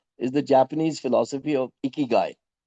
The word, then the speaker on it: ikigai: to you before is the Japanese philosophy of iky. It's pronounced ikyu i k e g ai.